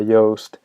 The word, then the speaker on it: Yoast: Now, for those of you who have not heard of WordPress SEO by Yoast, it's spelled Yoast, Y-O-A-S-T, kind of like toast but with a Y.